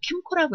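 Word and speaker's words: KAMCO: 바쁘시고 이 절차도 너무 번거롭고 복잡하고, 그래서 이런 경우는 그래서 보통 한국자산관리공사라고 줄여서 캠코, 이거 영어거든요. 그래서 이거 캠코라고 읽어요.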